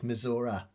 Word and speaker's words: Missouri: But he pronounces it as Infestus Misora.